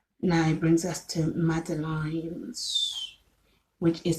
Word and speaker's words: madeleines: Now it brings us to madeleines, which is spelled MADELEINES.